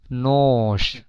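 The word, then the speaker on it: нож: অস্ত্রী নস অস্ত্রী নস।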